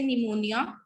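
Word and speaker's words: pneumonia: P is silent in the word initial spelling sequence.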